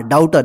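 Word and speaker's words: daughter: एच टी ई आर डाउटर देखिए य जी एच जो है ना साइलेंट रगा इसका उच्चार नहीं हो रहा ठीक है ना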